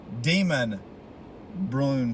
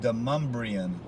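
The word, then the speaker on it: Demonbreun: d-e-m-o-n-b-r-e-u-n and you would think it would be demon brune street but it's pronounced demumbrian Street into mumbreon street is uh where you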